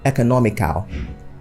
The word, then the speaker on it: economical: Economical is often pronounced economical.